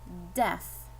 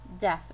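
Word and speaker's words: deaf: one here one syllable def def two vowels i have an e and an a but the a is silent we're not gonna say that a we're gonna pronounce this word def with a short e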